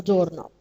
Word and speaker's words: doorknob: Also, there is another knob, this one, which is we call it the doorknob. Okay, again, K is silent. We don't pronounce the K.